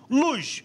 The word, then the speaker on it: Luge: E agora vamos para mais um que é similar, tem semelhanças, que é o Lunge, ou Luge. Qual que é a pronúncia? Luge.